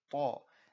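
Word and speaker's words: ط: you look down here, you have ta, and that's pronounced with more of a full mouth.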